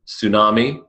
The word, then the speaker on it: tsunami: Tsunami, silent T.